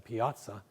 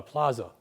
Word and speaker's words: piazza: And what we wanted to try and move towards is creating the proper Italian pronunciation, as I understand it, is a piazza, but a plaza in Western New York language.